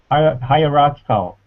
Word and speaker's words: hierarchical: Oh yeah higher hierarchal hierarchical that's right organized levels hierarchical hierarchical five syll hierarchical the stress hierarchical hierarchical hierarch stress is on the third syllable third syllable hierarchical hierarchical